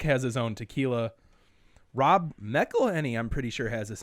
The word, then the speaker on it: McElhenney: Is that how you say it? McElhenney? McElhenney, yeah.